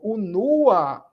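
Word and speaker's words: unua: Observe que quando eu digo o nua, a sílaba forte agora passa a ser o segundo o não é exatamente o nua.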